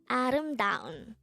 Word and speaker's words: 아름다운: angle word number 245 this is pronounced as a four-syllable word the first syllable is a second syllable is third syllable is da and the fourth syllable is pronounce it with me adam down adam the korean word